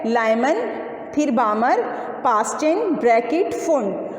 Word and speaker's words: Balmer: ठीक है, नंबर 2 है बामर सीरीज़। बामर सीरीज़ में ये जो L है BALMER, ये क्या है? BALMER, L साइलेंट होता है बामर सीरीज़।